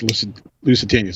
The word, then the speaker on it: Lusitania: Lusitanias? I always want to call, yes, Lusitanias.